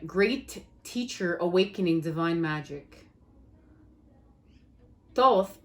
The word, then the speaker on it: Thoth: teacher awakening divine magic thoth pronounced toth also known as tahuti